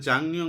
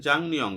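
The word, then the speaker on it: 작년: অর্থ হচ্ছে গত বছর এখানে জাংনিয়ং বলা হচ্ছে কেন গিয়ক বাচ্চিমের পরে যদি নিয়ন আসে তাহলে গিয়কের উচ্চারণটা অনুষ্কারের মত উচ্চারণ হয় এজন্য বলা হয়েছে জাংনিয়ং গত বছর উড়ে উড়ে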